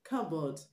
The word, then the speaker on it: cupboard: Cupboard, the P in cupboard is also not pronounced.